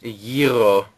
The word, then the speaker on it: gyro: the Greek or Gyro if you don't know how it's pronounced Euro oh actually speaking of